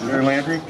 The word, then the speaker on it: Garrie Landry: Is that how you pronounce it? Yes, Garrie Landry.